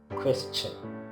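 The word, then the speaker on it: question: तो क्वेश्चन, क्वेश्चन पता नहीं क्या क्या बोलते हैं, तो इसको आप क का साउंड होता है इसमें, इसलिए क्वेश्चन, पीछे चन, कुछ लोग सन बोलते हैं, क्वेश्चन।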